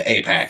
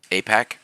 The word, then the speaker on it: AIPAC: APAC. Yeah, APAC. Yeah, it's spelled AIPAC, Yeah. but I'm pretty sure it's colloquially pronounced just APAC.